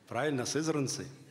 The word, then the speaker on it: Сызрань: Уважаемые жители города Сызрани на территории нашего старинного любимого города Сай области кушкин Николай Иванович Давайте предоставим ему слово спасибо Уважаемые куда ударение ставить что вчера Ян сказал мнен поправит по-другому сызран правильно хорошо Ну по крайней